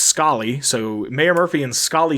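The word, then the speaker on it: Scollay: like yeah so uh i looked it up and it's pronounced scully so mayor murphy and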